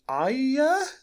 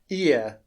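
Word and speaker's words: Iya: Ia. Yeah. Okay, sorry. More of a long E, so it doesn't sound like the things on either side of your head.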